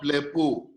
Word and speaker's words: blepo: So in blepo, ble is a short syllable, while po a long syllable.